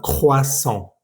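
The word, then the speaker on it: croissant: O también las palabras famosísima croan, que significa croasan. Entonces el o i va a sonar siempre wa.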